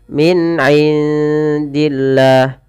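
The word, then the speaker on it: مِنْ عِندِ اللَّهِ: Jadi " mini", bukan "min", bukan " minindillah", tetapi "min'indillah", persis seperti aslinya.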